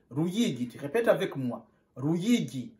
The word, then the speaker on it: Ruyigi: On prononce Ruyigi. On prononce Ruyigi.